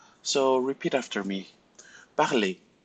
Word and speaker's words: parler: So we will not pronounce the R if you have a verb ending in ER. So repeat after me. Parler, regarder, inviter, jouer, danser, écouter, aller, dîner.